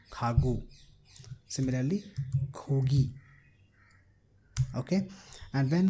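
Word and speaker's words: 가구: So it will be pronounced as Khagu, not Khakhu, Khagu.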